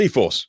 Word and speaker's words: E-4ORCE: So it's pronounced E-Force, but it doesn't look like that on paper.